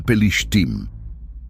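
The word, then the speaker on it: פלשתים: Esa palabra egipcia es la misma que en hebreo se pronuncia pelishtim, que en griego se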